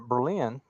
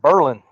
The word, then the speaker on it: Berlin: I was in a a town that is spelled b r l i n I grew up calling that Berlin but here it's called Berlin I'd have said Berlin yeah yeah normally I would too okay as you can